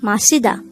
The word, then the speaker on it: 마시다: The word Masida could be divided into 3 syllables. Masida. Ma is formed from the combination of the sounds of miyum and a. Si is formed from the combination of the sounds of siyot and e, while da is